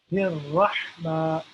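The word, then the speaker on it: الرحمن: should be able to feel when we are pronouncing the letter Ha. Okay? So, Bismillah, Rahma, Rahma.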